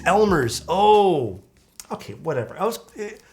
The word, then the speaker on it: Elmer's: Khalifi's really, I find that to be a little bit too Elmhurst, like the glue.